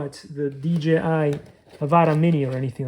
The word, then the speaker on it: Avata: I am hoping that DJI will eventually come with the DJI Avata, because that's how you say it, based on all the paperwork and the original thing.